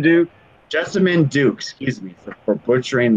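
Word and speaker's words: Jessamyn: Jessamine Duke. Jessamine Duke, excuse me for butchering their name.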